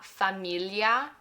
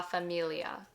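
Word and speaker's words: famiglia: biggest biggest tricks because this sound that gl doesn't exist in English. And the pronunciation guide can really help out with this more and give more examples. But just for right now, it's la familia and not la familia.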